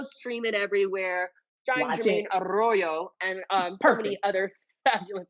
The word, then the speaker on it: Arroyo: name you say arroyo arroyo i am white as you know no i know i know you can roll the tongue stop